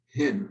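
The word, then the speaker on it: ἕν: We simply say in, and the rough breathing goes this way, and we pronounce it hin.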